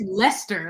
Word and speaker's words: Leicester: Well, because we had yeah, it's Leicester, like in Gloucester.